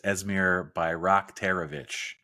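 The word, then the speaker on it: Esmir Bajraktarević: be looking at it's esmir by rockovich I know that because I just looked at the pronunciation guide uh in the on their website that is a he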